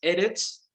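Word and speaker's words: אֶרֶץ: Su pronunciación es Eretz, y su derivación de una raíz que no se usa, que significa ser firme.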